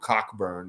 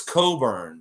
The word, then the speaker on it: Cockburn: able to to say cockburn with a straight face you know that it's coburn when you pronounce that last name it's not cockburn i have a friend